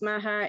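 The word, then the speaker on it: Meagher: And I believe the last name is pronounced Maher. It's M-E-A-G-H-E-R, which I would say meager, but I think it is Maher.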